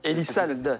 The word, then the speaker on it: Elissalde: Elisald, salde. Je l'ai prononcé, je te le dis.